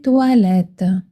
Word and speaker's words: toilettes: Attention, le O i se prononce wa toilette comme dans le mot water en anglais. C'est facile pour son souvenir. Où sont les toilettes ?